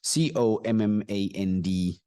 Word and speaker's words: command: at the next word c o m m a n d the sound of it goes like command C command can you see that command the sound of it is C command not command command